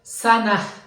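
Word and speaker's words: سنة: সানা অর্থ হচ্ছে বছর শেষে একটা হা উচ্চারিত হবে সানাহ সানাহ সানা অর্থ হচ্ছে বছর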